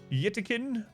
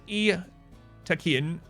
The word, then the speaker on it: Yttakin: Yttakin. To me, they're attacking. They're attacking. Pronounced roughly as Yttakin. Yttakin. Yttakin. Yttakin. There it is. Pronounced roughly as attacking. No.